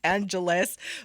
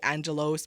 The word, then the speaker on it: Angelos: yeah Alice right I don't know why it's pronounced Angelus but so I apologize I'm not doing it on purpose it's just when I read it it's just a natural thing to say Angelos but it's pronounced Angelus for whatever reason when